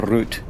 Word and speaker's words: route: Like, this is my bus route, or route, depending on which way you want to pronounce it.